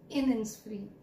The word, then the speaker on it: Innisfree: I am repeating the name, The Lake Isle of Innisfree. So kindly notice the pronunciation, right?